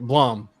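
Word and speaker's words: Blame!: It's like the only comic Blom, but it's spelled Blame, Blame.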